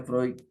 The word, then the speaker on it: Freud: de tiempo de analizar los sueños el se pronuncia Freud y empieza a decir que lo que le